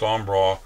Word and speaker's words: Embarras: bridge across there and then this is the ombra river it's spelled embarrassed but it's pronounced on bra and the way this bridge will actually be